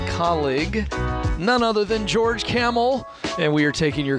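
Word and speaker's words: Kamel: means a lot yeah camel thank you by the way tell people how it's spelled if they're new to you it's with a k k-a-m-e-l like the animal and i will say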